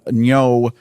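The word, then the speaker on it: Ngo: But two of the main characters, Olga Kurylenko, who played the Taskmaster in Black Widow, is in it, and Veronica Nyo, I believe that's how it's pronounced.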